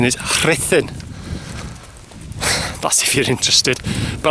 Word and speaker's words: Ruthin: Some people call it Ruthin, but its correct pronunciation is Rhythin.